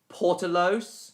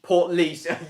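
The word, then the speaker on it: Portlaoise: Ay portalos. Portleas. Port leash.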